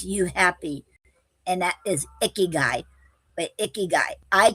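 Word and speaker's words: ikigai: And um today's word is um icky gay. No, Icky. G A I is guy. Icky guy.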